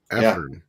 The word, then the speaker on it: Afrim: How do you say it for Afrim? Afrim. That's what he told me.